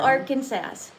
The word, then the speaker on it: Arkansas: What about Arkansas?